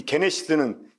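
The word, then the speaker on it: γένεσις: 이 게네시스는 제네시스라는 뜻입니다. 제네시스. 제네시스가 이제 그 어떤 태어나는 시작, 기원을 가리켜요. 그러니까 창세기가 영어로 제네시스잖아요. 그러니까 이게 이제 그 영어식 발음이고 헬라식 발음을 하면 게네시스.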